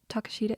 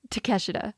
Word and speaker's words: Takeshita: Takashita, is that how it's said? No. It's Takeshita, my bad.